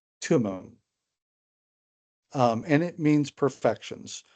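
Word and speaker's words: Thummim: have the letter or the word I'm sorry Thum is how most people say it when they're talking about the irum and the thum um but it's actually pronounced tumon um and it means Perfections of course irum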